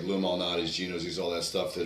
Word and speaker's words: Lou Malnati's: She took us out to lunch, and it was the first experience with it was what is it, Monaldo's, Louis? How do you pronounce it? Lou Malnati's.